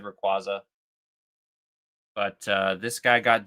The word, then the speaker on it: Rayquaza: It's because I don't know if you guys saw, but Pokemon I'm pretty sure Pokemon published on their Instagram that it's actually pronounced Rayquaza.